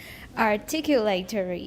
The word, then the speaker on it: articulatory: The A is not pronounced. Flaps are typically retroflex articulations, but it is possible to make the articulatory Articulatory.